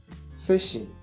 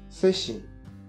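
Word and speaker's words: 세 시: 3 heures se dit seshi, seshi.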